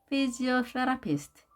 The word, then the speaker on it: physiotherapist: Physiotherapist. Physiotherapist. 자, 이 표시가 보입니까? 하나는 아래, 하나는 위에 있죠? 자, 제2강세, 제1강세가 되겠습니다. 그래서 physiotherapist 이렇게 발음이 되는 겁니다.